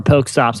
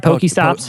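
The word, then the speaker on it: PokéStop: Uh, am I saying it right? Poké stops. Poké stop. Poké stops. Yeah. I don't really care. Whatever. Yeah. Uh, whatever. Nerds. Nerd. Poké stop works.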